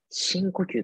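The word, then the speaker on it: 深呼吸: 深呼吸って読むんですよ。So it's all read it as the 深呼吸。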